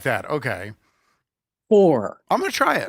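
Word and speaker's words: phwoar: know what this means okay okay it's uh four but it's spelled p h w p h w a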